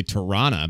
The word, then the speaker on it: Toronto: Toronto. And then that's just because all of us hosers here say Tirana, but I try to say Toronto.